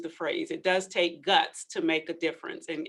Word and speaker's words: GUTS: And yes, it is pronounced GUTS.